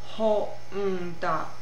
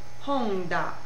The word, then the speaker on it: Honda: So for example, the car company Honda, Honda, Honda. It gets a syllabic beat of its own.